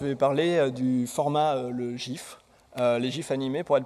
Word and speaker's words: GIF: et à regarder des gifes qu'elle a préparé donc ça va être un peu pourri désolé première chose comment ça se prononce alors la réponse on la connaît tous Voilà c'est gif pas gif euh il y a